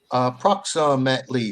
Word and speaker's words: approximately: yeah so ah procs approximately five syllables approximately approximately yeah approximately approximately yeah that that lovely y that that lovely y makes the long e sound lee that's right thank